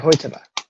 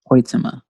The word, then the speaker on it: Hoytema: I think it's Hoyte van Hoytema. That's right, Hoytema. Hoytema.